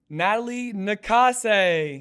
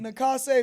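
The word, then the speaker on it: Natalie Nakase: Congratulations to Natalie Nah-KAH-say. Nah-KAH-say. Very important to get that pronunciation right, y'all.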